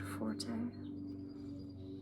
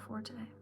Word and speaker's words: forte: And he made it a point to tell us that the correct pronunciation is actually fort and not forte.